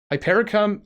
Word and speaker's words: hypericum: that is how to pronounce it how to pronounce it hypericum okay hypericum erectum what a species of St John's wart